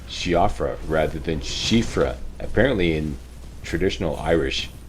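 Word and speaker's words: Siofra: said it's she offers so I went with shiafra but um I've been told by people who all who are Irish that is pronounced shifra uh so all this time I guess I've been mispronouncing at humble apologies but I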